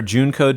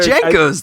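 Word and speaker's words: JNCO: if you guys remember june code jeans but yes they call it juneco yeah that's what they're called no they're jankos dude jacobs jenkos dave you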